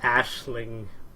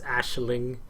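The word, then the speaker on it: Aisling: this is actually pronounced Ashling it sounds weird I know but it's Ashling Ashling is really cool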